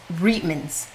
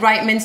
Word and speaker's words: Reitmans: and by the way it was reedman's Canadians corrected us treatments we said reitman's Tom Bauer says reitman's as well yeah but apologies Reitmans